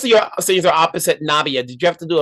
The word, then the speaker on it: Nabiyah: Um, how do you say Now, Nayaba? Nabia, Nabia. Yeah. yeah. It's not try to butcher it. I'll let you say it. So yeah, so most of your scenes are opposite Nabia.